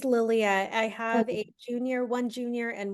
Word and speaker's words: Lilia: So is it Lilia? Sorry, I'm mispronouncing your name, but can That's you okay. Yeah, it's Lilia.